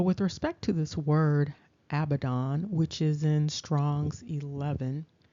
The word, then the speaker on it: Αβαδδών: And so, with respect to this word Abaddon, which is in Strong's 11, we see that it is actually pronounced Αβαδδών.